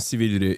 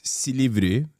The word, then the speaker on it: Silivri: He said it wrong. It's not Silivri. It's Silivri. Okay.